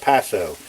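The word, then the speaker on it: Paaso: This is a it's pronounced P-A-A-S-O, Paso.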